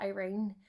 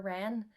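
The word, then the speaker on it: Yrene: Um, like I call this girl, she's actually called Irene, but I just for some reason have been calling her Ren.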